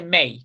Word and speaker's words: mig: mig se dice May, claro, May, ¿no?